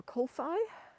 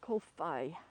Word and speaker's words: Kōwhai: want to share the, first of all, the Kolfai. So you spell it K-O with a macron, W-H-A-I, Kolfai.